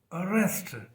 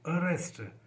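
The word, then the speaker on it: arrest: देखि आप और देखें अरेस्ट A double R ई एस टी अरेस्ट तो उसपे भी जो फोकस है जो स्ट्रेस है वो आर पे है और यह वीक हो जाता है इसी तरह से है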